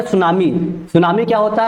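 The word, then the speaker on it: tsunami: ध्यान दीजिएगा T silent है यहां पे। सुनामी में टी साइलेंट है।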